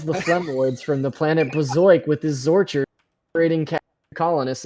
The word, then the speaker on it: Bazoik: The Chex warrior repels the Flemoids from the planet Bazoik with his Zorcher, creating colonists in the process. I've never heard a more 90 sentence in my life. You actually wild. You mispronounced it. It's Bazoik.